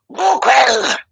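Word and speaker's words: god kveld: And how do you pronounce Kveld? In Norwegian, we say quell. Quell. Oh. Guquel.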